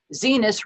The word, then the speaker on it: Venus: history where he plays venus rhymes with penis fisk welbert yes yes